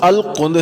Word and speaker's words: القنز: نام بھی لکھا ہے۔ نام القنز تھا، جس کا تلفظ القند ہے۔ وہ مصری مسلمان تھا،